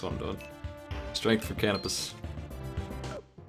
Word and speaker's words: Canopus: I'm doing strength for canopus I guess you pronounced his name kopus but I ain't ever going to do that it's apparently a star